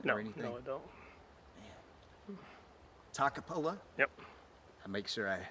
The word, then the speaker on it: Toccopola: this place down or anything no it don't takapola yep I make sure I say it right